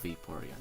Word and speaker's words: Vaporeon: because of its name growing up pronounce the name Vittorio but now I heard other people say Vaporeon don't even remember Ashley calling it Vaporeon but yeah it makes sense cuz you know vapeur and now I can't